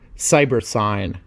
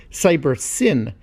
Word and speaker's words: Cybersyn: Collectively, the system was termed CyberSign, or perhaps more accurately should be pronounced CyberSyn, as it stood for cybernetic synthesis.